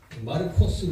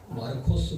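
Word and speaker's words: Μάρκος: 마가복음 마르코스 그랬죠 마가복음 있니다 예 히브리어가 원래 옛날에 저 헬라인들이 들어와 있을 때 헬라의 그 발음들이 남아 가지고 마르코스 그랬어 마르코스 우리는 마가 이렇게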